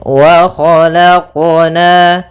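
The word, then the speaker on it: خَلَقْنَا: Nah, kemudian untuk qalqalah dalam huruf qaf jangan sampai adanya saktah ataupun adanya tambahan huruf seperti huruf hamzah. Misalkan wa khalaqna itu ada tambahan hamzah. Harusnya dalam pelafalan qalqalahnya tidak ada tambahan hamzah ataupun saktah. Ya, akan tapi dia langsung saja mengalir wa khalaqna.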